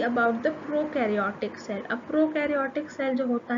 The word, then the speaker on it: prokaryotic: the prokaryotic cell a prokaryotic cell that means pro rhymes with no so that means they